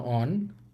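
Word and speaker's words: は: দেখেন এটা হচ্ছে নাউন ওয়ান প্লাস ওয়া প্লাস নাউন টু প্লাস দেস। এটা মূলত আমরা এর আগে হাি পড়েছি। কিন্তু যখন এই হা এটা পার্টিকেল হিসেবে বসবে তখন এটার উচ্চারণ হবে ওয়া।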